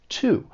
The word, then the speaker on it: to: has to do with the word to which actually has two accepted pronunciations when stressed it sounds like well just like I said two when unstressed it may sound like it has that schwa sound like it's unstressed it's very soft but you would often